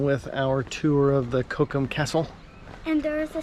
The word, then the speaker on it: Cochem: So our first stop is Cochem, which I guess is the English way of saying it, and I think in German it's Cochem. Cochem.